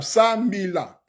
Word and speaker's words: sambila: Le Sambila est composé de 3 syllabes, Sambila.